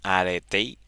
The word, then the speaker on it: Arete: Arete is a Greek concept pronounced Arete.